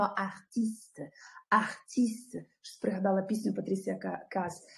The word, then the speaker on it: artiste: Записуємо правопис, вимовляємо артист.